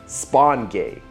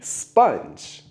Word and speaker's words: sponge: The word is actually sponge, like with a U sound.